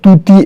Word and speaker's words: طوطی: موتی، دوتی وغیرہ، اور طوطی ایک الگ پرندہ ہے اور جس کا تلفظ جو ہے واو معروف یعنی جوتی کی طرح ہے۔ اب طوطی کا جو